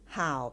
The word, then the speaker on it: 好: อย่า ลืม นะ คะ ตัว นี้ ออก เสียง ห่าว เป็น เสียง ที่ 3 ค่ะ เห่า หวา หมาย